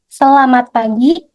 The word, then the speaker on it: selamat pagi: When you meet people in Indonesia or in Jakarta, you will hear this expression like selamat pagi, selamat siang, hi, and hello.